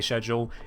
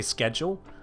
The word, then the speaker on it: schedule: off any longer the schedule is going to resume and yes this is how British people say schedule if they've not been raised on American vernacular a lot of people